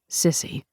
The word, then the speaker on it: SSCI: Senator Nat Shriver was vice chair of the Senate Select Committee on Intelligence, or SSCI, which everyone in D.C. pronounced Sissy.